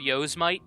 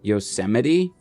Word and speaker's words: Yosemite: vacay desk your vacation destination Oh backpacking through Yoos might Prague or a tropical beach Yosemite oh yeah oh yeah oh yes might I